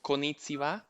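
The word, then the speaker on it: こんにちは: I would like to uh, kindly greet you in Japanese, but can you maybe correct me if I'm pronouncing it incorrectly? Is it konnichiwa?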